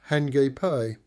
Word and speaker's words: Hakip: Hakip pronounced hiipe. Stress on second syllable is the local name of the cove.